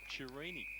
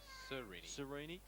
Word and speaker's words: Cerini: the line in fact torini the correct pronunciation number 5:13 cerini and it goes even yeah